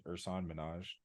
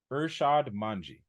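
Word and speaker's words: Irshad Manji: Don't Label Me by I always say her name is Ursan Minaj. Don't mind me just typing. It is Urshad Manji.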